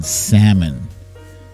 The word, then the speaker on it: salmon: So yeah, but you know what really gets under my skin is people who pronounce the L in salmon.